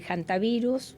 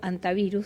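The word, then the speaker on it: hantavirus: El jantavirus o antavirus, según como lo quieran pronunciar, es un virus diferente.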